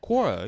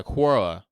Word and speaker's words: Quora: Corora. You know Kora. If you look up any kind of question, Corora will come up. Oh, with a Q. Yeah. Quora.